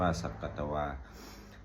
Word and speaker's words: สักกัตวา: บท ที่ 11 สักกัตวา สักกัตวา อ่าน ว่า สักกัตวา พุทธรัตนัง โอสะถัง อุตตะมัง วะรัง